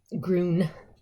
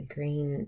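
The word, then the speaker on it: Grune: green is spelled g r u n e gron but it's pronounced green cuz you know every place has their things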